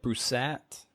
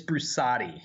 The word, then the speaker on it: Brusatte: pronounced your last name is it brusset it's brusatti so that's where we're